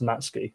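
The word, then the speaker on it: Matsuki: He didn't, he's right, is pronounced Matsky. The U is silent for for some reason just in, you know, Japanese language.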